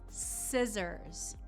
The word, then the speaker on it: scissors: Okay, this next word is scissors. So scissors. The C in this word appears to be silent. Scissors. And that double S is going to give you more of a Z sound, scissors.